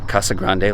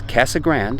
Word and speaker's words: Casa Grande: I'm in the town of Casa Grande. Yes, they pronounce it that way. It's not Casa Grande like it should be in Espanol, but it's Casa Grande, and this is about